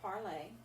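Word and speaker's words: parlé: wrong okay because like for parley your past participle is pronounced the same it's parlay that this without an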